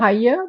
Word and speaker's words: Müller-Haye: Let's see if I get the pronunciation correctly. Perfect. Christiane Müller-Haye. Close enough? Müller-Haye, but that's Müller-Haye, fine.